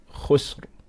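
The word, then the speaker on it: خسر: dhamma on it, then you pronounce the ra strong with Tafkheem. So the word khusr, we got a ra sakin. Okay, we put a sukoon on this because we've stopped. Okay, so anytime you stop on a word in the Qur'an, you're putting a sukoon on it.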